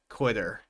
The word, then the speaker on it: quit her: Quit her. We don't necessarily need to say quit her. We can connect the two and say quitter, quitter.